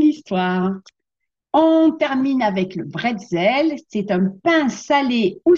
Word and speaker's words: bretzel: Donc, on dit bretzel avec un B, certains disent pretzel avec un P. Eh bien, les deux termes peuvent être utilisés pour désigner ces petits pains parsemés souvent de gros sel.